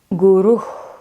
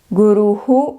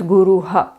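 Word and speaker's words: गुरुः: This is Guru is the correct pronunciation. Guruhu is the South Indian way, to some extent acceptable but not the perfect one. Definitely don't pronounce this as Guruha.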